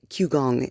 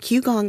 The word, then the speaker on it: qigong: good for you and q gong is spelled k uh not k sorry q i g o n g is not spelled the way it sounds there's no u and there's no k there's no c and even just a